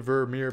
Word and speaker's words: Vermeer: And the name rhymes with Mermier. Yeah, so if you think about the Vermeer painting, woman with pearl earring.